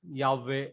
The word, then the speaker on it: Yahweh: covenantal, loving kindness of Yahweh Elohim. Then next word. Can you say? Yahweh. Very good. So actually this is the correct pronunciation of the tetragrammaton.